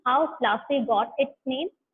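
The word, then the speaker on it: Plassey: डिड you know how प्लासी गॉट its name? प्लासी इज an anglicised pronunciation of पलाशी, and the place derived its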